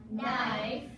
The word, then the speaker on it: knife: Now let's look at our next group of words that have a silent pattern, the silent K, which remember, K is always silent before the letter N.